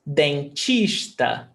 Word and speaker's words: dentista: So you're actually saying dentista, not Isso, dentista. It's chista, like ch, not t.